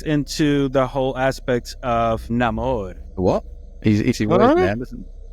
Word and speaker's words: Namor: His actual name, or from what I understand, is pronounced Namor.